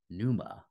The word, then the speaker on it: pneuma: known as this or the pneuma the p is silent and with it came